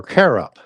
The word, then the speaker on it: cherub: It's just that it's not translated as you would translate translate cherub or carob as it was originally pronounced in the Hebrew.